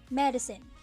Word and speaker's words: medicine: how about this word medicine it has three syllables the stress syllable is the first one how about this word